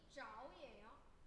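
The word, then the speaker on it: 着: 여기 발음이 자오예요.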